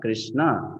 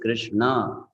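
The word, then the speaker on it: कृष्ण: why it is not Krishna it is Krishna because there's a DOT below n now you understand there's a DOT below n so it is not Krishna it is Krishna now what happens if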